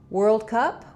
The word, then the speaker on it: world: I do have a lot of videos for it here on the channel, but think of the letters OR as being the ER sound, were. You can even build it from were.